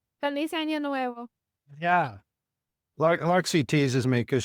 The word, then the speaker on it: Feliz Año Nuevo: So how do you say this? Feliz Nueva Años? Feliz Año Nuevo.